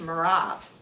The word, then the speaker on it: Merav: my older daughter and in the Hebrew it's pronounced merav I will give her